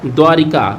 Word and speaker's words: द्वारका: और उसके बाद का द्वारा का ये अब ध्यान रखिएगा द्वारका होता है सही उच्चारण द्वारिका नहीं होता है कुछ और उसके बाद